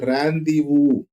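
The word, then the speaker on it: rendezvous: and conflict right now this r n d z v u us right it is to be pronounced as randu it is an arrangement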